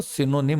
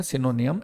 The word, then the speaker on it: synonym: बात कर रहा हूँ, SYNONYM, इसका जो प्रोनाउंसिएशन होता है वो सिनोनिम होता है, और दैट इज एंटोनिम। अक्सर मुझे बच्चे बोलते हुए मिलते हैं सिनोनियम, एंटोनियम। आप जरा खुद देखें स्पेलिंग को, NYM का प्रोनाउंसिएशन नियम कैसे हो जाएगा।